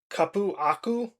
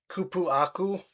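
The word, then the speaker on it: cupuaçu: I can't I'm not sure if I can pronounce this. Cupuacu, c u p u a c u c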